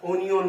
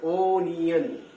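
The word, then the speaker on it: onion: এবার একে কিন্তু আমরা অনিয়ন বলবো, ওনিয়ন, ও নি এন, দেখে নি বানানটা, ও এন আই ও এন, ও এন আই ও এন, ওনিয়ন, বলো আমার সাথে, ওনিয়ন।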